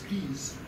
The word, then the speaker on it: crise: In French, it's crise, very close.